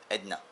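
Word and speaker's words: Edirne: it's written Edrine, but they pronounce it here like Edna, you know.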